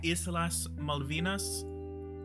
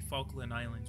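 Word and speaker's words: Islas Malvinas: back the Falon Islands don't you mean the isas malvinas is what you were talking about if you're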